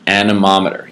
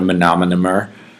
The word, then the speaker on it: anemometer: a tool called an anemometer you have to know how to spell that and you have to know how to say it it is not a menomonemer it is nominal it is an anemometer it's the little thing